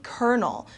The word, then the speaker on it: colonel: from the safe okay this one is not pronounced at all uh the way it's spelled this is actually kernel which is an officer